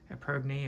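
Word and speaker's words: épergne: that really is nice people don't use that term anymore aerne or is spelled EP p e r g NE e is how I say it it's French so those are my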